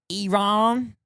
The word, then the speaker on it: Iran: It's pronounced Iron.